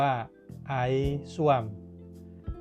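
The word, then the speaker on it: ais suam: ก็ ต้อง สั่ง ว่า ไอซ ซม อ่าน ว่า ไอ ซม ไอ ก็ คือ น้ำ ซม ก็ คือ อุ่น และ เมนู เครื่อง ดื่ม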